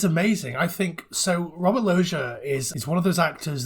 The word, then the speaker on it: Loggia: Raymond, played by, I'm going to say his name wrong, is it Robert Loggia? Yeah, Loggia, that's right.